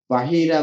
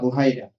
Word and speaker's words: বাহিরা: তো সেখানে পথে যে একটা জায়গায় বাহিরা বা বুহাইরা দুইভাবে উচ্চারণ করা হয়, একজন খ্রিস্টান পাদ্রীর সঙ্গে দেখা হয়।